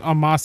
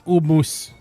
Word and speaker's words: Omos: I talked about how Joel pronounces Omos as Umus. The wrestler Omos, he pronounced it as Umus.